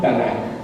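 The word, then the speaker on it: תנ״ך: 24 O 22 llamados tanac tanac es el acrónimo de torá nevin y Queen verdad tnk Pero como así es como se escribe tnk pero las dos a que están ahí simplemente para pronunciar y fue en el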